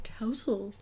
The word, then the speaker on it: tousle: And it was, like, tousle. Like, mouse.